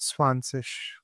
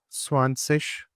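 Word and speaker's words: zwanzig: is pronounced like this Z is pronounced like always like S. Yeah. So and over here, as I told you, over here, this G is pronounced like K. Whenever it is coming with a combination of a vowel, it changes its sound. So over here, its sound would be something like sh.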